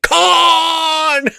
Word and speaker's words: Khan: IT'S CON. BUT HOW DO you know if you've never seen it? Well, there's a lot of mememory out there. My favorite one is Comic Con.